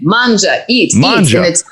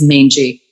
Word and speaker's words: Mangia: You have a crazy Italian last name, Mangia, and I have discovered over time I have heard every pronunciation of my last name, and the only one I find truly unsettling is mangy.